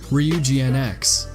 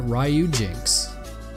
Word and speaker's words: Ryujinx: Enter the new Nintendo Switch emulator, REE-YOU-JI-NX. Every single content creator that I've come across is pronouncing the name incorrectly. Everyone's calling it Ryujinx. Ryujinx? Ryujinx? It sounds like a messy mashup if you ask me.